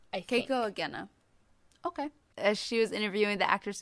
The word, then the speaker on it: Keiko Agena: I'll put on our Tumblr, but it was, let's see, Kiko Agena I'm not pronouncing her name correctly. And then the actress. I think it's Keiko Agena, Keiko Agena.